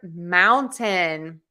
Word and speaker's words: mountain: How do I pronounce the word mountain? You have a couple of options. You can say mountain, just like I did, mountain, mountain, mountain. Think of it as Mao and tin, mountain.